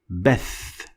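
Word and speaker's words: بث: another example is Beth Beth Beth of course is going to look like bath when you try to write it in English but it's not bad it's Beth and it means broadcast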